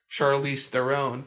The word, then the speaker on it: Charlize Theron: myself because i pronounced i pronounced uh charlize theron charlize their own because they whenever she was like nominated for a few of these academy awards and stuff she broke out with like monster and all that stuff i and she'd been around before then everything but people would try to pronounce it with this like extravagant way and then um it turns out it's just their end huh shout out shout